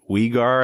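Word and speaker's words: Weegar: away from the boards mackenzie wigar i think is how they pronounce it i always thought it was weaker so mackenzie wegar was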